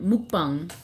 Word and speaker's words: mukbang: Mukbang.